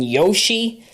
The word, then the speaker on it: Yoshi: Yassi and Yoshi both are proper pronunciations. It's tomato, tomato, potato, potato.